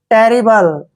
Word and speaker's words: terrible: टी का उच्चारण हम क्या करेंगे? टे। और डबल आर का उच्चारण रे करेंगे, आई को ई की मात्रा पढ़ना है, बी को बै पढ़ते हैं, LE को ले पढ़ेंगे। टेरिबल।